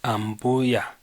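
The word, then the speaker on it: ambuya: the Zambia's not grandma spelling is the same but the pronunciation is a bit different for grandma's am booyah booyah and for mother-in-law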